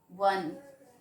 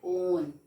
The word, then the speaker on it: one: one no you see this word one it is start we say one we never said on we never say own we say one w l e so one is starting with w and that's why we